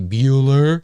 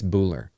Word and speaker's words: Buhler: from a script by Jeff Buhler, I think is how you say that. Looks like it could be Bueller, but it's not. I think it's Buhler.